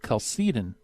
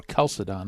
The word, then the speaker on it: Chalcedon: Anyway, after that, he was a prime mover behind the Council of Chalcedon, or Chalcedon. I've heard it pronounced both ways, in 451, which was expected to repair the situation.